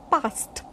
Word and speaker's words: passed: We don't pronounce d, we pronounce ta, but ta, for example, past. But we don't put stress on ta, but it is never pronounced d.